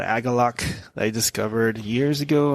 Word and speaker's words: Agalloch: So this band's called Agalok that I discovered years ago on some, I don't know, satellite.